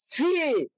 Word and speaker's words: see: শব্দের শেষে যেহেতু ডবল ই আছে, সেহেতু ওয়ার্ডের শেষে যদি ডবল ই থাকে তাহলে উচ্চারণ হয়।